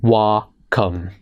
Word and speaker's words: Wacom: also made by Wacom and yes it is pronounced working as in wah come actually I just looked it up right before